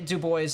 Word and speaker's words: Dubois: I've been to Dubois they say Dubois over there don't try me I